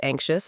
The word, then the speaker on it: anxious: Some people have anxiety as a condition, but we all feel anxious sometimes and that's normal. How do you pronounce it again? Anxious. Anxious. The X sounds like ks together.